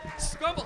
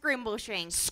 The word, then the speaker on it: Scrimbleshanks: Welcome, Scrumble. Oh, sorry for the cord hello, there. Welcome, hello. Welcome, Scrimbleshanks, to Dr. Fix Me. It's pronounced Scrimbleshanks.